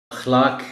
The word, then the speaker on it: اخلاق: خاص توجہ چاہیں گے۔ اخلاق، اس لفظ کو اخلاق ہی بولنا چاہیے، اس لیے کہ بعض اوقات